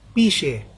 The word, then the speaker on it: pixie: Pixie, kasi P-I-X-I-E. Pero ang basa ron, pishe, hindi pixie. Kung may nagsabi sa inyo, pixie, or Jing, mali po yun. Mali yung pronunciation. Okay? P-I-X-I-E, ang basa ron, pishe. She, ang X-I-E kasi is she, ang basa sa amin.